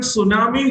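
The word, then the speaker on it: tsunami: यहां तक पढ़ना भी लोगों को मुश्किल था, क्योंकि उस शब्द का उच्चारण सुनामी होता था, लेकिन वो शब्द शुरू होता था टी से, TS करके शुरू होता।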